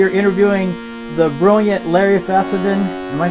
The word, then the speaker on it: Fessenden: hello we are interviewing the brilliant Larry fadan am I pronouncing that correctly yeah fendon uh f fendon is that German what is